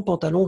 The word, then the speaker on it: pantalon: Le pantalon, faites attention, pantalon, juste un haut. Madelon, hein, pas de haut, un on.